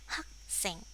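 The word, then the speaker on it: 학생: Ya, kemudian di sini hak ya, h, a, g jadi hak. Kemudian sit, ing jadi seng. Kalau digabung hak seng, hak seng.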